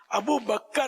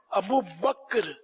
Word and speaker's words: ابو بکر: اچھا یہ عام طور پر ایک غلط تلفظ بولا جاتا ہے، یہاں ابو بکر بولتے ہیں، ابو بکر نہیں ہے، کاف ساکن ہے. ابو بکر، ابو بکر صدیق، ابو بکر صدیق بولیں گے تو غلط ہو جاتا ہے.